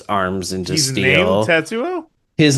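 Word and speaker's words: 鉄: who the fuck is Tetsuo? Yeah, yeah, yeah. You Exactly. know? Yeah, exactly. And I should tell you, so like Tetsu, Yeah. but pronounced Tets. That's how you say steel.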